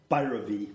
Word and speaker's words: Bhairavi: So you do put the emphasis on the first On the part, first syllable.